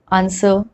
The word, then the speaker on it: answer: some other words like answer sword to where we are not pronouncing w at all now that you have